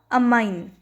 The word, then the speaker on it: amine: तो इसका आंसर क्या होगा, अमाइन, AMINE, अमाइन। अच्छा, अमाइन कहते हैं इसको, और जिसमें डबल M होता है ना, इसमें अमीन कहेंगे, अमीन। दोनों का प्रोनाउंसिएशन अलग अलग होगा।